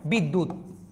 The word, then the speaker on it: বিদ্যা: চলে যাবে বিদ্যুত আচ্ছা এখানে কি লিখেছি বিদ্যা দেখেন উচ্চারণ হচ্ছে না জফলাটা কিন্তু যার উপর বসছে সেত উচ্চারণ হচ্ বিদ্যা আমার কথা কি মনে